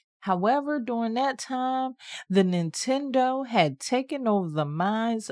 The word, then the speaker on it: Nintendo: the right pronunciation was he would say it's not intendo it's Nintendo well anyway I guess I'm